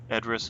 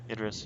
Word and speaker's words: Idris: the losers you know Zoe Saldana Chris Evans address Elba how do you pronounce his name Idris yeah so you just what a SAG Award